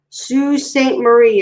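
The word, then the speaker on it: Sault Ste. Marie: buy material make curtains sue saint marie is how i pronounce that yeah our son he's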